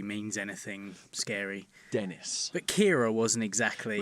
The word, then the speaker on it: Ciara: But Kira wasn't exactly. Was it Kira? Yeah. But it was spelt C-I.